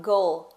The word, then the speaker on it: goal: Então eu falo goal. O L, ele tá lá, a gente é pronunciado, porque a gente coloca a língua lá atrás do dente, né?